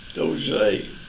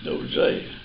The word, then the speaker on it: Dozier: Dozier is French. Dozier. That's the way it's pronounced in French. Dozier.